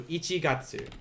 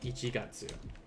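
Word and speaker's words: 一月: ichi the kanji katsu remember in this case it's not getsu like in monday getsuyobi the counter for months will be gatsu so same kanji just different reading so ichigatsu ichigatsu in which case what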